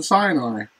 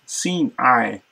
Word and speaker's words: Sinai: B, Horeb, Horeb, and then Sinai isn't Sinai at all. It's Sinai, Sinai, Sinai, like an S-I-N, Sin, or S-E-E-N, Sin, and E-Y-E, like Sinai, like Sinai, not Sinai, as we're common to pronounce it in English.